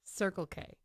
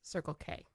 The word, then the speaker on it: Circle K: It's not Circle K. It's Circle K. Circle. Yeah. What? What's the difference? This is the way you put the emphasis on the word. You said Circle K.